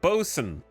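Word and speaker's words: boatswain: whose language is this boson bosen it's pronounced bosen okay yo come get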